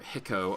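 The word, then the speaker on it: Hikou: the explosive build on the Hikau Prime, or Hiko, I believe is the proper pronunciation.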